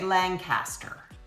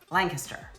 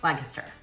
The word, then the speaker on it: Lancaster: And if you want to be local and you want to be one of us, then you'll say Lancaster. All right? You don't have to pronounce every syllable.